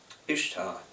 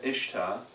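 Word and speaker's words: Ishtar: Babylon in Iraq um ishar uh pronounced Easter uh uh but yeah ishta uh she was a pagan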